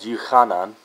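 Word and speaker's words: Yochanan: Mark, Luke, and John is not how you pronounce their names in Hebrew as well. It's called Yuchanan, and this is John.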